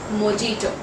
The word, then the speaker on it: mojito: wrong is mojito now the correct pronunciation for this word is j would be silent in this word so it is mojito so the next word